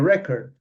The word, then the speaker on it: record: verb so on the record record the the the the the stress is on the first syllable whereas record can I